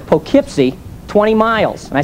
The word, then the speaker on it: Poughkeepsie: she said, Dad, it's Poughkeepsie. I said, Allison, I know that's how they spell it, but around here they say Poughkeepsie. Dad, if they wanted to say Poughkeepsie, they wouldn't spell it like that.